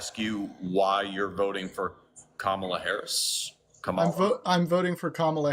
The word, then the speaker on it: Kamala: you why you're voting for Kamala Harris?